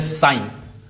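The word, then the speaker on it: sign: जैसे साइन साइन अब साइन में जी साइलेंट है।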